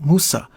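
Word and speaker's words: موسى: changes in the Arabic just as Moses is pronounced in Arabic Musa while its original Hebrew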